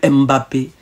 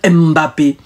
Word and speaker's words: Mbappé: Kylian Mbappé, Francis Ngannou, Cédric Ndoumbe, Emiliano Nzue, Sissoko Ndiaye.